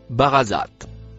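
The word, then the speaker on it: برزت: Le mot vert, se prononce, barazat.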